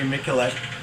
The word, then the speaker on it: Miculek: Reloading is slow and cumbersome unless you're Jerry Michalek, as he pronounces it. I pronounced his name wrong in the first one, and I apologize.